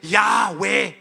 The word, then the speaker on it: Yahweh: 26 means Yahweh. Dit beteken Yahweh. Ek wil hê julle moet mooi hoor en luister hoe ek dit spreek. Yahweh. My tong raak nie aan my verhemelte nie.